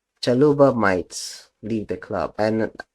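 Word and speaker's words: Chalobah: I don't know why I pronounce his name shalubai it's supposed to be challenges chaluba might leave the club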